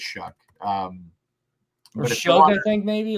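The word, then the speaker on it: Shough: We're pronouncing it right. It's Shuck. I believe so. I believe it's Shuck. I thought it was Shao, like Eric Shao, the old pitcher for the Padres, but I no.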